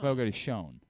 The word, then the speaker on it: Fogo de Chão: Fogo de Chão.